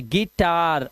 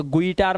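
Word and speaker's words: guitar: जैसे ई, ध्यान रखना, यू है लिखा लेकिन आवाज देखो ई, क्यों? आई आया हुआ साथ में थे। गिटार, अभी से गुईटार मत करना ना।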